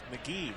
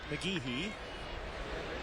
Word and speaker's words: McGehee: e h e but it's pronounced mcgee not mcgehee or mcgahee or mcgeehee it's mcgee one and two on